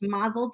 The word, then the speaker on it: Mazel: It's Mazel Tarot and Divination, like Mazel Tov, because she's just a little Jewish.